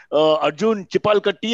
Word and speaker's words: Arjun Chipalkatti: Arjun Chipalkatti, have I pronounced it correctly? Yes, perfectly.